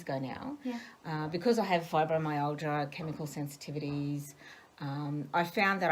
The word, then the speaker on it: fibromyalgia: And something that you live with in a day-to-day life, which is fibromyalgia.